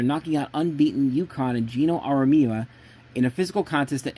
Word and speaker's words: Geno Auriemma: Dawn Statley's team beating the team led by Geno Auriemma, I think I'm pronouncing the name correctly. Geno Auriemma. That's how it's pronounced.